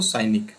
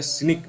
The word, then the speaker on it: cynic: ठीक है, एक तरीके से आप साइनिक, उस व्यक्ति को साइनिक या सिनिक भी पढ़ा जाता है इसको।